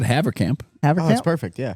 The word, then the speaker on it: Havercamp: And do you want to try to pronounce his name? I said Havercamp.